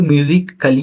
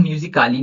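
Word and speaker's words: musically: अब यहाँ पे म्यूजिकली है ना। अब म्यूजिकली को हम म्यूजिकाली नहीं पढ़ेंगे, तो इसीलिए म्यूजिकली पढ़ेंगे, तो यहाँ ये साइलेंट आप कंसिडर करोगे, राइट।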